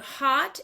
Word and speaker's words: Haute: So we need to tell people the hot is spelled HAUTE. Hot minute is in like haute couture.